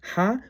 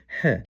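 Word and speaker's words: һ: I guess it's time to stop calling it the lowercase h letter and start calling it by its name, which is ha or he.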